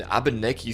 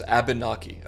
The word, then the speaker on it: Abnaki: Also, I hope I pronounced that right, dude. I I don't want to mispronounce a native like name. It's Abnaki.